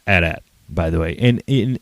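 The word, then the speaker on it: AT-AT: Buddy, that's how you pronounce a barcode, not an Imperial walker. It is and always has been at at, as in at crushes Kyle's ego beneath its footpad.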